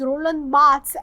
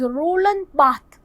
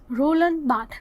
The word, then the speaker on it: Roland Barthes: he is known as Roland Barthes. Roland Barthes. That S is not pronounced, S is silent, because he is the man of France.